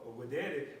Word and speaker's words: videre: All right, with the V, but it's pronounced videre, which means to see.